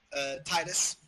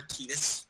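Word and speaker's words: Tidus: Other fighters, Titus. Yeah. Or Titus, depending how your pronunciation is for him.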